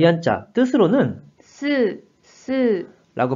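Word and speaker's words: 吸う: 자, 이 한자 뜻으로는 す、す、 라고 발음해 주시고, 음으로는 きゅう、きゅう。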